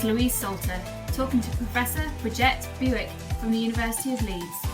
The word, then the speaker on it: Bridget Bewick: That's a great opening question and I want to say a special thank you for uh, pronouncing my name correct. Uh, as you said, I'm Bridget, Bridget Bewick.